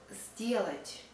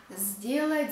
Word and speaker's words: сделать: For example, a word сделать. We spell сделать, but we pronounce, the most often we pronounce сделать. Сделать not с, but з.